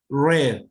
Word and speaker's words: read: hell head dead dead and red why red because it says it's the past tense there i read a book